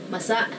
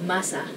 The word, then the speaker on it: masa: You have to be careful of the accents here because masa means moist, but there's another word spelled the same called masa, which means the masses. So masa and masa. So just be careful to say it as masa.